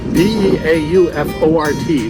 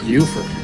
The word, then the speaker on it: Beaufort: Now, if you're in South Carolina and you're in a town that's spelled B-E-A-U-F-O-R-T, the same as here in North Carolina, in South Carolina, it's pronounced Beaufort. In North Carolina, it's Beaufort.